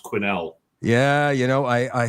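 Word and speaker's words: Quesnel: and I I believe the one place is pronounced Quinnel.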